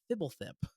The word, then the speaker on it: Fblthp: His name is Thibblethip, which is spelled. Are you ready for this? FBLTHP, so no vowels in that name, is he's a homunculus,